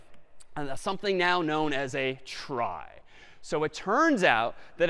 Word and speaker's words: trie: be a gotcha a try is sort of a fancier tree and it's short for retrieval but pronounced try for weird historical reasons but a try is